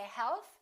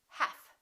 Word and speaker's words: half: should silent l hath we don't say health we say half silent t the silent